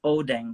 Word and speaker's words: Odang: So the pronunciation is Odang, like oh dang man, yeah, something like that.